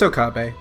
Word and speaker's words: Okabe: I don't know how to pronounce shit. Yeah, it's Okabe.